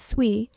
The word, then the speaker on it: SUI: On paper, SUI pronounced SUI is a layer 1 blockchain platform launched in May 2023 by a company called Miston Labs.